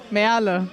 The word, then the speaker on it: Merle: Merle. Merle. But Merle, it's okay. Merle. That's my nickname. Merle. Yeah. Because it's spelled M-E-R-L-E.